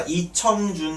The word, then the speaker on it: 이청준: 읽어보니까 이청준 씨네요. 이청준. 춘이라고 읽지 마세요. 청준이십니다. 청준.